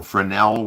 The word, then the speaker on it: Fresnel: including evidence of a Fresnel lens or Fresnel, which is the right way to pronounce it.